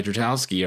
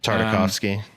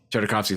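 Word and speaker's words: Tartakovsky: going to do the noncanon Clone Wars by Dratowski or I'm mispronouncing his name, just to mess with us like that like a big curveball. That's that would be a good one. Um, damn. Tardikovski.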